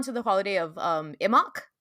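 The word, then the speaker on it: Imbolc: like even down to the holiday of um imok it's spelled i m b o l c but it's pronounced imok it's Groundhog's Day I'm not kidding I know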